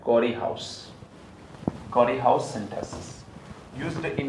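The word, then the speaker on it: Corey–House: एक हाउस form करना है, नाम है उसका कॉरी हाउस। स्पेलिंग इसका थोड़ा मैंने गलत लिखा है, COREHY ऐसा है, बोलते हैं REHY है, Carry हाउस, Carry हाउस synthesis, used in a Carry हाउस synthesis.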